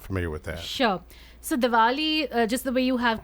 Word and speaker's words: Diwali: Diwali? Diwali, oh Diwali, yes, the with a state V?